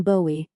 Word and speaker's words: Bowie: A detective, John Bowie, pronounced, several reviewers insisted, like The Knife, teams up with a true crime producer, Beth Collins.